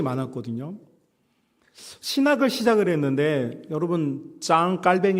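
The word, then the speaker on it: Jean Calvin: 신학을 시작을 했는데 여러분 짱 깔뱅 이라고는 프랑스 사람 영어식 발음으로는 존 칼빈이 하는 분 이분은 27살에 우리가 알고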